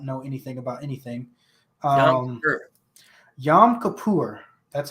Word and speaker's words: Yom Kippur: because I don't know anything about anything um Yom Kippur that's how you say it uh it's a